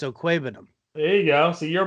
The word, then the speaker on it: Okwuegbunam: It's Okwuegbunam. Is that a guess or a no? Do you know how to say it is? I know how to say. Yeah, it's Okwuegbunam.